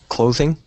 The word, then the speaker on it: clothing: with that one is there's two kind of th sounds there's th and there's the theth sound is like a vibrating sound and the th sound is more of like a spitting sound so I'm hearing clothing clothing but um native English speakers make it more of that buzzing sound so that vibrating sound so that would be